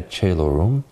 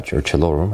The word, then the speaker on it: Caelorum: We'll begin singing tomorrow the Ave Regina Caelorum, or Caelorum, I think is the right pronunciation, from tomorrow through Our Lord's Triumph at Easter.